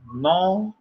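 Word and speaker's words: νόμος: Nomos. Espero que você já saiba das letrinhas aqui, né? Nomos. Não é vamos não, viu, pessoal? A pronúncia em português seria essa aqui, né?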